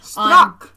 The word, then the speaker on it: Strzok: The FBI investigator who, if you've been watching anything Strzok.